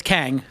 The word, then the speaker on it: Kang: Did I pronounce it correct, Arum? Yes. And it's Kang.